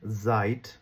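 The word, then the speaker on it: seit: যেমন একটা উদাহরণ বলি আপনি যদি বলেন জাইট অথবা সাইট দুইটা শব্দ আলাদা দুইটার মিনিং আলাদা জাইট যদি বানান করেন তাহলে হচ্ছে এস ই আইটি জার্মান ভাষায় মানে এস এটে আর যদি আপনি সাইট বানান করেন তাহলে হবে জেড ই আইটি হ্যা তাইলে সাইট মানে হচ্ছে সময় ইশ হাবে কাইনে সাইট আমার কোন সময় নাই আমি যদি বলি হচ্ছে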